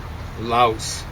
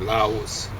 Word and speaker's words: Laos: Laos. Well, we tend to make a diphthong out of that, Laos. But it's kind of like a W there if you wanted to make two syllables out of it.